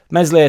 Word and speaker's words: Meslier: Meslier Silent S has had some rocky moments.